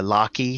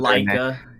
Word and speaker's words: Laika: For all because the studio that really focuses on that is the Locky Studios, or I can't even pronounce those. Laika, yeah. Laika Studios.